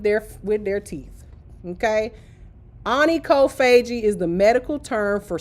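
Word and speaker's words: onychophagia: Okay, so Anie Kofagi, which is how it's pronounced, but you can see the word chop right there in the middle.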